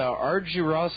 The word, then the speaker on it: Argyros: He's a professor at the Argyros School of Business, if I pronounce that right.